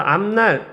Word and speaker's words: 앞날: 그래서 앞날 이것도 마찬가지로 뒤에 미음과 니은이 온다. 이럴 때는 아 밑에 미음으로 발음이 되더라.